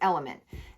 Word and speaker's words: LMNT: love the brand lmnt it's pronounced element and it has all